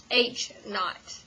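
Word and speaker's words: h₀: oh eight years um you actually call it h naught I don't know where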